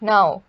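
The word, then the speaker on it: know: no we don't say we don't say k here we don't take now it's no so the k silent here then it's knife knee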